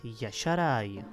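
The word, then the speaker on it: Y'Shaarj: nakonec ten úplně nejtěžší, který by se měl vyslovovat Yasharai.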